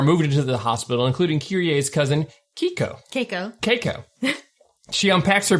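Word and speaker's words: Kirie: Kyrie, did I say it right?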